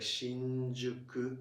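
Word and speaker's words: 新宿: But depending on the word following, or depending on sound following, it's pronounced like Shinjuku or Shinbashi.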